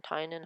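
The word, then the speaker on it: Tynion: written by james tyne artinian tynan how everyone pronounced his name the force illustrated by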